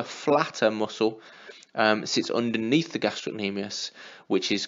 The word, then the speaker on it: gastrocnemius: the calf we have the gastrocnemius often wrongly pronounced gastrin amias there was a C in the middle of the word gastrocnemius and that's the the